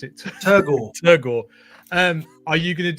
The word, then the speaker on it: Turgore: When you do another colorway of Turgo, I can't pronounce it. Turgore.